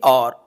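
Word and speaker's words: hour: यहां पर भी देखो यह जो वर्ड है और यह और है यानी के इसमें भी एच साइलेंट है अब एच साइलेंट है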